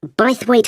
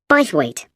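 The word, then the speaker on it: Bythwaite: free and the show is being held in bwe Hall sorry how do you spell that b y t h w a i t e b weight is it easy to find I'm not very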